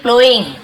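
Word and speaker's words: ploughing: ठीक है, अब यहाँ पे देखिए प्लोइंग, यहाँ पे जी साइलेंट आता है, प्लोइंग बोलेंगे इसे हम।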